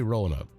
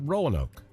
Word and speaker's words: Roanoke: There's a proper way to say Roanoke. Not Roanoke. It's Roanoke. Everywhere I go and I tell folks I'm from Roanoke, Alabama, I'll say, I'm from Roanoke.